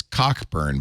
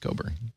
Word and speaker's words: Cockburn: I think it is pronounced Coburn.